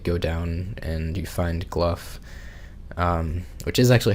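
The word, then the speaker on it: Gough: h I think yeah apparently it's pronounced gluff kind of like like cough um so yeah you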